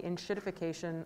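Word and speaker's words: enshittification: I noticed recently that some of your direct language on the inshittification of the internet, if I'm saying the term correctly. That is the correct pronunciation.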